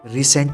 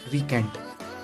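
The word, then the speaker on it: recant: तो दोबारा सेंट लगाया, रीसेंट लगाया? रीसेंट मतलब दोबारा सेंट लगाया? तो वो मुकर गया, ना मैं थोड़ी लगाऊंगा। तो वो जो मुकरा है ना वो है रीसेंट। तो इसका प्रोनाउंसिएशन होता है रिकेंट।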